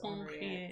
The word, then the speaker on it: Henriette: It's Henriette, but you say it like you're French, so it's Henriette.